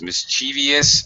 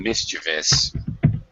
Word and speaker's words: mischievous: is something mischievious mischievous there's two pronunciations mischievious and mischievous depending British or American what is something mischievous